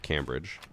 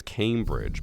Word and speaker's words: Cambridge: She's like, it's Cambridge. But I'm like, there's no E. If you wrote out C-A-M, would you say came or cam? Second word is bridge. We all know how to pronounce that. Cambridge? No, Cambridge. With Ubisoft being located in